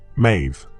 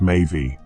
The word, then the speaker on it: Medb: You may know her by her anglyized name, Mave. But in the old Irish tongue, she was m pronounced mavy, a name that translates to she who intoxicates.